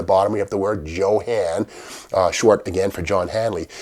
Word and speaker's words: JoHan: now johan is short for john hanley it's not pronounced johan sebastian bach but johann john hanley in 1947 he started